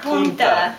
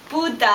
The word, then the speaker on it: puta: It's not punta. No, it's not. How do you say it? It's puta. Puta. Punta is like the point of something.